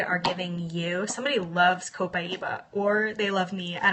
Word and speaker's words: copaiba: long time to learn how to say it copaiba and I actually use this lean to address